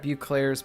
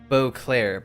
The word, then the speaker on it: Beauclair: blure or SS and it is here at bu Clair's Port that this wine begins its Journey both